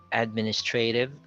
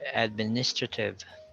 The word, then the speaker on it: administrative: the first syllable then we have two acceptable forms we have administrative or administrative so so they have different stresses as well then we have this